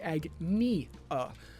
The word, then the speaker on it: Agnia: It's actually Agnia. Like agony. It's painful.